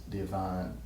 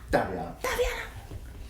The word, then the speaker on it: Da'Vianna: leading up to the production, told us because Diavana goes to Chapel Hill and I live in Atlanta. You just said my name wrong.